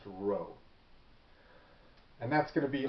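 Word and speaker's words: rho: version of it which looks like a p but it's pronounced row and that's going to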